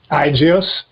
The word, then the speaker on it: IGEOS: So we named it Igios. And then by the way, just for listeners, that is spelled IGEOS .net, right?